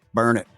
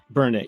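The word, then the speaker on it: Burnet: it's so Bernett yeah as Texas towns go it's it's burn it burn it yeah it's burn it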